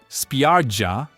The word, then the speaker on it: spiaggia: In Italian, spiaggia means beach. Notice the soft G sound. Spiaggia.